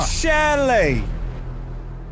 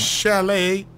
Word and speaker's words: chalet: Chalet. The T is silent. Chalet.